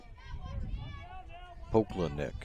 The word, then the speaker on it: Pokladnik: Pokladnik is the way it's pronounced. If you heard the PA guy do it differently.